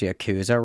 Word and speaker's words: Yakuza: They're just like letting people get in Yakaza and it was yada yada. Did she just say did she just pronounce Yakuza wrong?